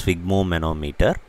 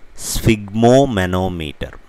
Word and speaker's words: sphygmomanometer: we saw a new word, it's called as sphygmomanometer, an instrument to measure blood pressure. Sphygmos, manometer. So all these three words combined together forms sphygmomanometer. It's very easy, now you can say it along with me. Sphygmomanometer, sphygmomanometer, sphygmomanometer.